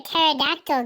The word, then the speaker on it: pterodactyl: can't you hear a pterodactyl going to the bathroom because the PE is silent how does a train